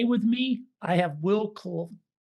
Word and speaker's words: Klusovsky: And today with me, I have Will Kukulski. Kukulski. Did I pronounce it correct?